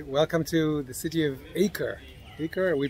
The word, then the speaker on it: Acre: world center okay welcome to the city of acre liquor we pronounce it ako in this country we drove around the haifa